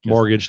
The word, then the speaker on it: mortgage: Mortgage, the T is silent.